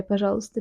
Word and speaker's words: Пожалуйста: Чай, пожалуйста, tea, please.